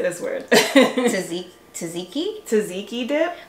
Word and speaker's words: tzatziki: Tzatziki dip. Like, I read it tzatziki, so I know how to spell it. But I think it's tzatziki, that dip.